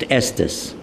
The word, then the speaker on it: Estes: Today it's pronounced Estus, but that's where our name came from.